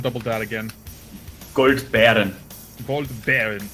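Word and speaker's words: Goldbären: Gold Baron. It's like Baron. Baron mind. Okay, cool. Yes, it's like bear. Just bear.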